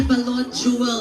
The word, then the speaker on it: balot: po kayo ng balot Okay this is how you say balot Jewel this is how you you shout bot bot can you try that